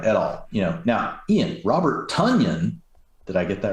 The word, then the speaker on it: Tonyan: Tonyan anyway, like Funyun. Tonyan like Funyun.